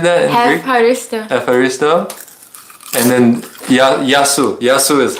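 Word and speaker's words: ευχαριστώ: Efharisto.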